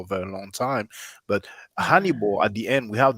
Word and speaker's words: Hannibal: very long time but hanibal at the end we have the ba'al you know in english we pronounce it honey ball uh well honey but basically it's ba'al at the end so what does hannibal